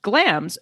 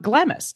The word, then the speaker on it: Glamis: And just in case you've only seen it written, it is pronounced Glamis, not Glamis, as our guest this week instructed me.